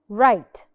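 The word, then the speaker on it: write: Right. Right. R. R. I start with the R. The W is silent عشان it's followed by R.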